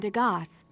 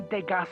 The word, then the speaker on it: Degas: You mentioned Degas. What is that? I don't understand why we're pronouncing the S in Degas, but...